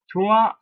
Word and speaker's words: trois: Trois. So you see that you do not pronounce the INS, it is just trois. You don't pronounce the S in fact.